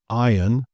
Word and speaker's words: iron: Another one that is commonly mispronounced is iron and ironing. So I have an iron, I'm doing the ironing. I don't think this is a rhoticity thing. This is also silent for rhotic accents.